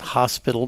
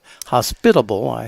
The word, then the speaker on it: hospitable: Not hospital, but hospitable. Yes, there you should go. put in the other syllable.